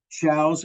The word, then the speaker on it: Shows: It's Shows, Shows, and it's pronounced like cow, Cows.